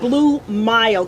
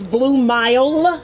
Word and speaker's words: Blue Mile: ways to performed yeah and that's blue mild because you know we don't be pronouncing words in our community but it's blue mile with the m-i-l-e yes blue music dot